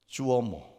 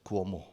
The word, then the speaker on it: Cuomo: jalan Itu namanya gubernur Cuomo kuomo kali bacanya kuomo Andrew kuomo dan ketika